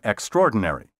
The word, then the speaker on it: extraordinary: say zoology and zoologist also don't pronounce the extra in extraordinary the word has five syllables not six be sure to clearly